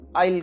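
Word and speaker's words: aisle: passage को भी हम आइल कहते हैं मॉल्स के अंदर शॉप्स के अंदर और क्लासरूम में भी ये जो स्पेस है आइल ये आइलैंड के लिए रहता है एस is silent here आइल island second pick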